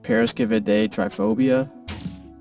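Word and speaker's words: paraskevidekatriaphobia: It's pronounced Paris day triphobia.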